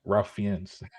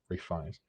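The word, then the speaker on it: Ralph Fiennes: I used to think his name was Ralph Ralph Fian. I thought his name was Ralph Fian. Um apparently it's Rafe Rafe Fines.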